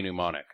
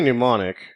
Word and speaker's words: Mnemonic: pneumonic it's fun to you can say it fine until you try to read it and it doesn't it's spelled so un phonetically it's spelled Johnny monom